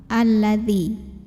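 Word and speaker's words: الذي: Jadi bacanya selalu a ya kalau ada hamzah wasol yang depannya lam. Alladzi.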